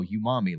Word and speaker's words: umami: Like no, umami. Like that's an actual thing. That's how it's pronounced.